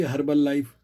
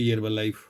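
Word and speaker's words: Herbalife: उसी के साथ उससे भी पहले की अमेरिका की हर्बल लाइफ, यहाँ बोलते हैं हर्बल लाइफ, क्योंकि यहाँ एच साइलेंट है। भारत में बोलते हैं हर्बल लाइफ।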